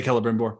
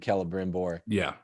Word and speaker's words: Celebrimbor: I was just making sure that I wasn't getting Celeborn and Celebrimbor mixed up. You got that classical Latin pronunciation of the C, the same.